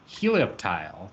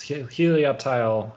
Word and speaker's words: Helioptile: randomly selected Pokemon is Helioptile I think is how you say it um delayed um I think it's like reptile yeah like the sun um